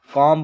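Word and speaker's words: comb: एम के बाद बी आया है तो इसको कॉम पढ़ा जाएगा इसको लम पढ़ा जाएगा इसको डम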